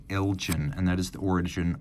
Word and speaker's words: Elgin: lot of people ask how's it pronounced is it Elgen or Elgen well if we were still in Scotland it would be Elgen but the folks from Illinois I've spoken to say it is is pronounced Elgen and that is the